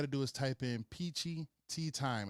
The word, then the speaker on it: Peachy Tyme: All you got to do is type in PEACHY TYME, and that's time spelled with a Y, TYME.